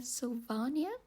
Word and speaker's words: Sylvania: And actually he pronounces Sylvania Sylvania, which is very fancy.